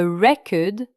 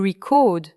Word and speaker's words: record: A record avec un accent sur la première syllabe. Et to record, a voice accentué sur la syllabe finale.